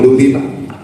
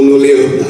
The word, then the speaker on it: Luleå: Is it Luleå or Lully? Oh, Luleå, that's right.